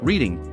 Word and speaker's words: Reading: Where I used to live, reading, pronounced Reading if the slash of RS is reading this, I went to a primary school nearby my house.